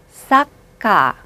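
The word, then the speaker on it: サッカー: 축구는 사카. 맥주는 비언데 뭐라고 발음하죠?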